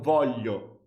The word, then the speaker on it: voglio: It's so difficult to pronounce the GL sound. It's like io non voglio.